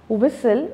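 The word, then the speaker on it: whistle: हमारा B silent है, विसल यहाँ पर हमारा T साइलेंट है।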